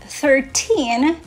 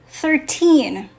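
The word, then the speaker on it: thirteen: Okay, so in the word 13, the last syllable is the word teen. So it's louder, longer, and clearer. Say this with me, 13. Okay, we don't say 13. 13.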